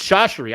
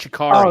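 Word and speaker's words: Chachere: Andre, yeah, Shashiri. It's Shashiri. Andre Shashiri. We said Shikari. Oh, Shashiri.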